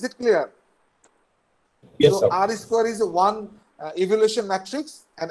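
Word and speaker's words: R²: It's pronounced like R square, R to the power square. It's called, it's not, uh, we don't call it R to the power square, we say it R square.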